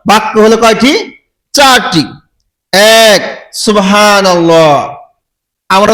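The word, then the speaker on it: سبحان الله: আমি অনেককেই জিজ্ঞাসা করেছি, বলে সুবহানাল্লাহ সুবহানাল্লাহ সুবহানাল্লাহ সুবহানাল্লাহ, মানে সুবহান আল্লাহ শোনা যায়, ও বলে সুবহান, হান বলে হান, তারপরে আল্লাহ, সুবহান আল্লাহ। কিন্তু আসলে শব্দটা হচ্ছে এরকম উচ্চারণ সুবহানাল্লাহ। কি উচ্চারণ হবে? সুবহানাল্লাহ।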